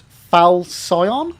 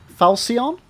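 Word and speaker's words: Falchion: Uh, so Zeus, you're saying it's pronounced falsion. Falsion, huh? Soft soft C. But it's a ch. When does ch ever make a s sound? Falsion.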